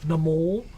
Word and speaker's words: Namor: MCU showed me how to say it right last year. Namor.